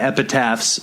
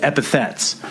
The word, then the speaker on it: epithets: I always thought it was epitaphs too, but recently Sam told me that it's not epitaphs, it's epithets.